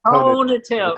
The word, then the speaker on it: conative: I've known you for so many years and you still don't say it right. It's I know. conative.